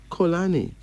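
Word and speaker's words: Xolani: some M names the first me name is colani colani and it spell weird like x o l a n i could you imagine x o l a n i and it's pronounced colani it is from Thea of South Africa this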